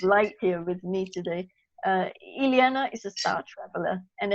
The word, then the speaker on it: Ileana: I have to introduce Alena now Indiana sorry I kept mispronouncing you Juliana Ileana is some very special